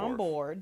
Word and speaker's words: Chambord: Chambord. There was a. Is that how you say it? Yeah, Chambord.